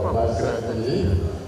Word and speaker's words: Obaseki: Godwin of Obaseki.